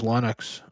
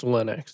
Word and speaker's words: Linux: I think he runs Linux on it.